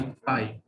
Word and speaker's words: phi: वो पाई प्रोनाउंस होता है और ये जो है ये फाई प्रोनाउंस होता है।